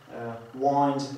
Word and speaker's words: wind: Wind, jak już mówiłem, znaczy nakręcać.